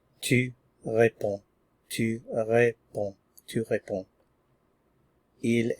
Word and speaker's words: réponds: Tu, we start with our root, and then we add the ending, which is S, pronounced the same as above. Tu réponds, tu réponds, tu réponds.